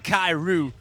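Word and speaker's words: Kairux: So, do we have any shout-outs from GM Kairu with a silent X?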